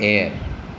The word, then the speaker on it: heir: An heir, an honest man, an honorary award. In here you can see that in all these words H is silent.